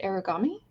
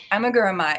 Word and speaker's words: amigurumi: Is it origami? Aragum. Now you're gonna make Oh me no, miss. now oh no. Amigurumi. Amigurumi is how I was taught to pronounce it.